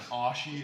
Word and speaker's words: ashi: call it ashy um ashy is apparently the canadian pronunciation yeah and ashi is the american pronunciation of a japanese word mixed with an english word yeah this makes a